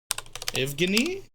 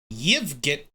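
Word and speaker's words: Евгений: Pronounce. How do you say it again? Evgeny? How do you say it? Evgeny. In Russian. Let's actually hear what it sounds like, eh? Yevgeny.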